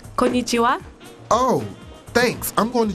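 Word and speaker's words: こんにちは: win 50 000 for your business it's pronounced konichiwa oh thanks i'm going to japan you ever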